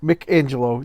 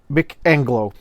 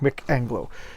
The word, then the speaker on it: Mick Anglo: Okay, Mick Angelo does the artwork. Mick Anglo. I've been saying his name wrong. Mick Anglo.